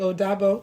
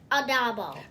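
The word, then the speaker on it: O dabo: And in Yoruba, we say goodbye by saying Odabo. What do you say? Bye-bye. And what else do you say? How do you say it in Yoruba? Odabo.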